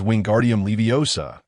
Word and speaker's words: wingardium leviosa: Remember, with a flick and a swish of the wand, the incantation is wingardium leviosa with the final syllable prolonged.